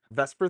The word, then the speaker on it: VSEPR: theories so the first one is the simplest Vesper Theory which is pronounced Vesper even though it's vs which would be like